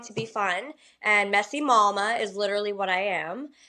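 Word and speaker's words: Mawma: So um I wanted my my wine to be fun and messy malma is literally what I am. And I wanted to spell it like mama like I do.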